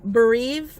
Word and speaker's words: breve: Okay, it says start by ordering the Grande Caramel Frappuccino with breve milk. With what? Breve, I guess is how you say it.